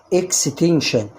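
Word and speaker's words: extension: قبلها اس ان وده حرف ايه ساكن يبقى هتنطق برض شين تبقى الكلمه ايه اكستنشن ولما تكون الكلمه طويله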